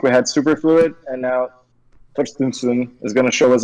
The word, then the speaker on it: Thorstensson: Thorstensson.